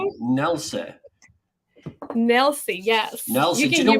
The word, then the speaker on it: Nelcy: Nelcy.